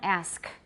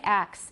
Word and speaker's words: ask: Everyone ask. Don't say ax. It's a feature of not standard English in America, and also elsewhere. I think in England they may have it in some places.